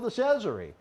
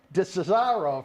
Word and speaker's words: DeCesare: That's it rhymes DeCesare. with Treasury, DeCesare. That's how I keep remembering how to pronounce it.